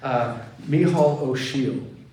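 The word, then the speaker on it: Micheal O'Siadhail: Micheál O'Shiel. I know it looks different, but that's how you say it with Irishness.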